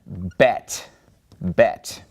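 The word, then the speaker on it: בית: And this letter is called Bet. Bet.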